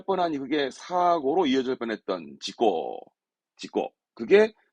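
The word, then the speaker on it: 事故: 발음은 지고, 지고.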